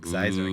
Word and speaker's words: Xizor: I like, Xizor.